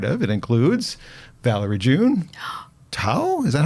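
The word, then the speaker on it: Thao: you are part of it includes Valerie June toe is that how she says her name uh how do you spell it t-h-a-o yeah yeah uh Yasmine Williams who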